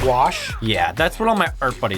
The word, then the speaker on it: gouache: Because it's definitely pronounced wash.